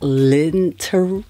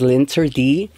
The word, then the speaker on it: L'Interdit: I believe this is pronounced Linterdi Eau de Parfum Rouge Ultime.